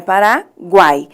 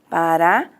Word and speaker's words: Paraguai: nós vamos observar que quando a gente pronuncia a terceira sílaba, nós pronunciamos o guai. Então, os sons vocálicos, eles saem todos juntos. Não fica Paraguai, né? Então, é Paraguai.